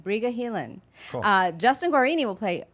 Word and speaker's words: Briga Heelan: Briga Heelan.